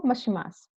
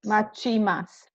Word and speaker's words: machimasu: Densha wo mashimasu. Not mashimas, but Machimasu.